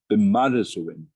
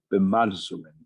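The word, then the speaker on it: bimadiziwin: There is a Ojibwe word, bimadazuin, and it's roughly translated life. It's spelled B-I-M-A-D-I-Z or Z-I-W-I-N, bimadazuin.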